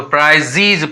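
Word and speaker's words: prizes: अगर कोई वर्ड के अंत में ई रहता है वह साइलेंट भी होता है. यहाँ साइलेंट है इसीलिए इसका प्रोनाउंसिएशन नहीं होगा, तो हम जेड को ही लेंगे तो प्राइजीज पढ़ेंगे उसको.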